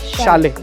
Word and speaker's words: Chalet: Chalet House though the actual pronunciation is 'Sha lay' just have a look